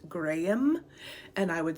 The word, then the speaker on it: Graham: this name is pronounced Graham and I would say Graham. But since this is a Scottish baby name list, I think we all should pronounce it the way they say it in Scotland, Graham.